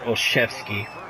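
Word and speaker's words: Olszewski: here and here goes all zooski or oshevsky however you pronounce it they pronounce it oshevsky so we're up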